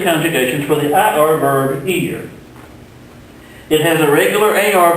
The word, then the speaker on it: ir: The verb ear, pronounced like this thing on the side of your head, ear, means to go.